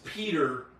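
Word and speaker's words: Пётр: it's Peter, but It's Peter. Yeah. it's Peter. Anglicized it's Peter. But in Englishized, it's Peter, but you put the Russian twist to it. Is how you pronounce his yeah. Piotr.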